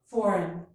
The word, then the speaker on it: foreign: In each of these words, the letter G is silent. Gnat, gnaw, design, foreign.